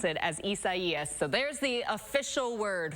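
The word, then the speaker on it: Isaias: but they're pronouncing it or telling us to pronounce it as isaiah so there's the official word from the national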